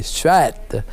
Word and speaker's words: suête: Bon, ben, le terme, c'est effectivement dans la langue française, on dirait suette, et c'est appelé de la façon qu'on le prononce. Mais si vous êtes au Cap-Breton, ne faites pas l'erreur, parce que là, on appelle ça des suettes. Et je me suis fait corriger plusieurs fois là-dessus.